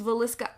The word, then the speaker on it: Villisca: town of valisa and that is how everyone was pronouncing it on the interwebs so that's how I'm going to pronounce it it's valisa Iowa um for himself his